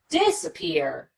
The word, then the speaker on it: disappear: disappear disappear but because we don't spend quite as much time on the D disappear if we categorize that as secondary stress and if you notice this middle syllable we just rush through as quickly as we disappear we get right to that third syllable that receives the primary stress the third level of